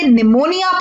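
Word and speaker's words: pneumonia: appeal की team में है तो हम इसे निमोनिया पढेंगे ना ही प्रयोग मोनिया इसे अब स्कूल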